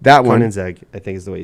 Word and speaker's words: Koenigsegg: the Bugatti Veyron, is that how you pronounce it? Veyron, and the Koenigsegg, Koenigsegg. that one. Koenigsegg, I think is the way you say it.